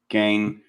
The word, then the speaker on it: Gein: That's a good to take a place that is literally, Happy Hodag visited the cache where, how do you pronounce that? Ed Gein? Gain.